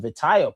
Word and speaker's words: Vitinha: It's Vitinha here.